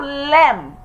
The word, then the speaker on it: lamb: Number 15, we have lamb. Just like we have tomb.